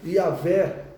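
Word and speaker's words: Yahweh: Porque quando Moisés apresentar, olha, Yahvé, que é a pronúncia mais aceita para o nome de Deus no Antigo Testamento, ou Jeová, ou Javé, tá bom?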